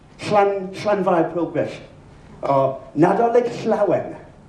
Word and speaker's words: Nadolig Llawen: see the letters LL, the phoneme LL, it's pronounced regardless of where it is. It's Llanfair Pilgrish, or Nadolig Llawen.